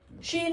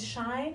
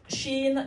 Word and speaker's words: Shein: Shein in the news. You look a bit. Oh, I know why. Because it's, maybe you call it Shine, because it's spelled Shein.